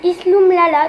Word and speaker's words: Isloumlala: Donc mon Snapchat c'est Isloumlala, tout attaché. Donc ça s'écrit ISLOUMLALA.